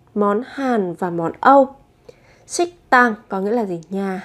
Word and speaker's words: 식당: Thế thì ở phụ âm tờ các bạn sẽ đọc gấp đôi phụ âm lên là 식당, 식당.